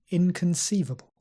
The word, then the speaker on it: inconceivable: speed repeat after me inconceivable remember that schwa not Khan Kun inconceivable indispensable indisputable inexplicable and